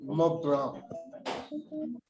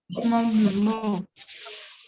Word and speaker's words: Mont Blanc: They call it Mont Blanc. Mont. Would you repeat, please? Mont Blanc. Mont Blanc. Mont Blanc. It's like you don't pronounce the C.